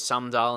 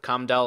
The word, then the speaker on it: Sumdal: He actually got past well, and someone left in the comments, it's the way to pronounce his name is Sumdal instead of Cumdal, like with an S instead.